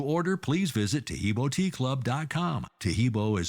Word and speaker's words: Taheebo: mean uh just uh dip your hands in tahibo and it'll dry off in about a minute